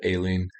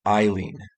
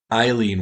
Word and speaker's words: Aileen: of aileen warnos right how i said alien it's actually pronounced eileen yeah i have a